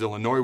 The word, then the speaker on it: Illinois: We couldn't find a consistent running game versus Illinois where the S is silent.